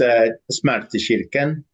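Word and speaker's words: Smärtkyrkan: It's smartkirken, Okay. which is okay. So you've got smarta is Yeah. pain, and kyrkan is church.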